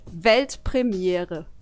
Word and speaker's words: Weltpremiere: It's actually Weltpremiere.